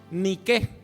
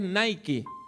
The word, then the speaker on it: Nike: ve todos los días usted ha visto una marca de zapatillas deportivas que se llama ni que lo que pasa que nosotros pronunciamos inglés nike la palabra ni que en griego quiere decir victoria por eso es que